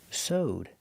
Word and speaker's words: sewed: It's pronounced with the long O. Soed plus the D sound connected together. So owed. Sewed.